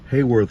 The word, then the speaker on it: Haworth: And here would be the Bigfoot General Store in what I believe is pronounced Hayworth, Oklahoma. It's spelled Haworth.